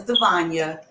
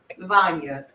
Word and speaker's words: Devonia: Devonia, people try to chop. I'm like, no, it's Devonia, Devonia.